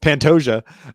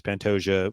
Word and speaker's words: Pantoja: I don't know how to pronounce his name. Pantoja.